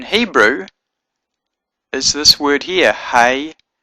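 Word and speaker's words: היא: is this word here he y or Y Alf which is pronounced he so the word for she is the word he y Al which is pronounced he so I hope that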